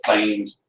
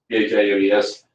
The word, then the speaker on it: Thames: It's spelled like Thames River in England, but Thames, Thames.